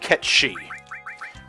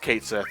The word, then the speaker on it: Cait Sith: Alright, the name is pronounced Ketshi. For years I thought it was pronounced Cait Sith, but that's not correct.